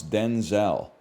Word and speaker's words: Denzel: That's how we got to pronounce Denzel.